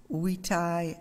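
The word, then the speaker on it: vitae: it is lex d'i wetai lampus i'm not sure about my lampus about my latin pronunciation but i did learn during those years that v is now pronounced w or it was them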